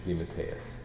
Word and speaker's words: DeMatteis: But the last name is the official Italian pronunciation is DeMatteis. It got Americanized and squashed into DeMatteis, which is kind of how it was when I was a kid. It was always DeMatteis. And but my father always used to say, but it's really pronounced DeMatteis. And as I got older, I thought, the Italian pronunciation is so much nicer.